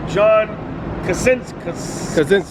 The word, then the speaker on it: John Krasinski: Now remember, in that first scene, John Krasinski, that's his name.